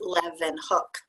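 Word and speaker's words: Leeuwenhoek: so this is the pronunciation helps how it's pronounced Livan hook a Dutch word in the passage pain explains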